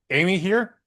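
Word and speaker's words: Amihere: Number three, pronounced Amy here.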